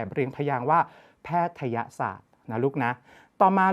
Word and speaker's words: แพทยศาสตร์: แพทยศาสตร์ และ ลูก นะ ไม่ ใช่ แพทย์ศาสตร์ เอา ง่าย ๆ เลย ลูก ถ้า เกิด อ่าน ว่า แพทย์ศาสตร์ ตัว ย ยักษ์ ต้อง มี เครื่อง หมาย อะไร อยู่ บน ยอ ยักษ์ จะ คาด จะ มี ลูก แต่ อัน นี้ ไม่ มี เรา จึง ต้อง อ่าน แบบ เรียง พยางค์ ว่า แพทยศาสตร์